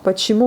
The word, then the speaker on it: Почему: Почему, vous voyez, on écrit le O, on dit le A.